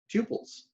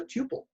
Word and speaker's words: tuple: topic a topic of tuples so python refers to values that cannot be changed as immutable and an immutable list is called a tuple or tuple depends on how you want to pronounce it so as far as